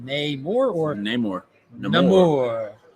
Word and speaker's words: Namor: Namor or Namor. Namor. Like amor in Spanish. According to the producers, it's like amor when spoken in the movie, because in the movie it means unloved son.